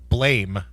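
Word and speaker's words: BLAME!: It's called Blame. It's better in the original Japanese. I guess it's pronounced Blam, but it's spelt Blame.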